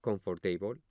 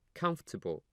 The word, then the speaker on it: comfortable: A lo mejor, si eres principiante total, dirías confortable. Y si ya tienes algo de nivel y has aprendido a pronunciar la parte final en otras palabras como able, aquí dirías comfortable. Sin embargo, esto se pronuncia comfortable.